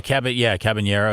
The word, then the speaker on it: Caballero: The craziest trade I ever saw was this summer when the Yankees picked up from the Rays Caballero. Did I say it right? Cabanero? Okay, Cabanero.